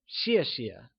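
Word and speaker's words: 谢谢: pronunciation tip in peening X is pronounced like she keeping this in mind let's look at the pronunciation of xie xie thanks translates to Xie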